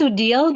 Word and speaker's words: Odile: Well, it's pronounced Odile, but everyone calls me Odie, so Odie.